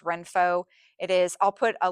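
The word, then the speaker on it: Renpho: I think it's uh pronounced Renfo.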